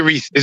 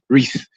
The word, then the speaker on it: Reese: too much I like Reese it's just Reese you know what I'm saying just one syllable Reese people say reesei I said no Reese that's that's cool but